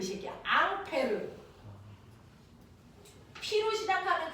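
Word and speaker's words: Ampère: 원래 프랑스 사람이니까 앙페르 그 앙 페르를 미국놈들이 읽으면 뭐가 될까요 앙페르 2암페어 3암페어 그 아저씨가 그 아저씨입니다 더아 그래서네 미국놈들이 읽었냐 프랑스 놈들이 읽었냐 따라서 발음이 다른 거지 같은 아저씨야 됐어 이렇게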